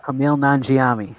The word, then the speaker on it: Kumail Nanjiani: Kumail Nanjiani.